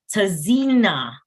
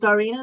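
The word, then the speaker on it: Tzarina: So Tizina. Good evening, all. My name is pronounced as Zarina. The T is silent.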